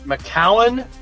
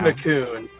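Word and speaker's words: Macoun: That one, honestly, I've heard McCowan and McCoon. Okay. I don't honestly know which is the correct pronunciation, but both are very typically used. Yeah. Okay. We'll say they're both acceptable pronunciations.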